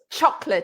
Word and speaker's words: chocolate: word that has only chocolate it's never chocolate no it's the first one that's stressed chocolate chocolate and i i have